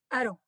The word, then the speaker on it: Haro: How do you say it? Haro. Aro. Aro. Yeah, Aro.